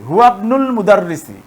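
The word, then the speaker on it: هو ابن المدرس: তো এটিও দেখেন এখানে বাক্যের মাঝে আসছে, এ কারণে কিন্তু ইবনুল মুদাররিসি, অর্থাৎ এই হামজাটির উচ্চারণ হচ্ছে না, ইবনুল মুদাররিসি, হুয়াবনুল মুদাররিসি।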